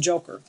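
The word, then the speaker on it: Jo-Cur: Okay, this one here says Joe Cure. Or they say it's pronounced Joker.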